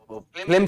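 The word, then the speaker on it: phlegm: फ्लेगमेंटिक, flag से बना है, फ्लेम से बना है, इसको, इसका प्रोनाउंसिएशन फ्लेम, फ्लेग्म या फ्लेम, ओके।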